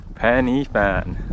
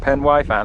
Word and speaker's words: Pen y Fan: Penny Fan, not Pen Fan like Brett keeps saying.